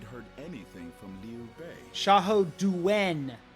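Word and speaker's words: 夏侯惇: Xiahou Duen, not Dun. Xiahou Duen.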